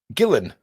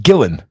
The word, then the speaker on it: Ghislaine: Gillen. It's pronounced Gillen. Hello, I am Gillen. Well, I'd prefer to mispronounce her name as often as I can. Ghislaine Maxwell.